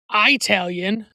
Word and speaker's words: Italian: And I also want to point out that it is never appropriate to pronounce the word Italian with a long I at the beginning, as Apollo Creed is doing in this scene, and they do throughout this movie. The word Italian comes from the country of Italy.